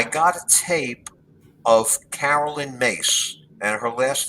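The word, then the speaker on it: Myss: I got a tape of Carolyn Mace, and her last name is spelled M-Y-S-S, and she's a spiritual teacher, and she actually still teaches today.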